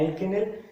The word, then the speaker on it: एल्किनिल: दोनों वर्डों की प्रोनाउंसिएशन में डिफरेंस है, एल्किनिल एंड एल्काइनिल। क्लियर।